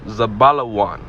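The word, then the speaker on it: זְבוּלֻן: 13 zebulon all right in the hebrew it's pronounced zabalawan all right which means dweller okay and this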